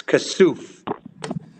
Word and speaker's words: Kassouf: Kassouf, I'm sorry, I'm mispronouncing your name. Kassouf. I'm sorry, say again? It's Kassouf.